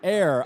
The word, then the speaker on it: Hoer: us off the Air. FCC I list. apologize. family, friends. Air. Air. Luke Sutterfield. So it's air, no H? Air. Just, yeah, there's no H.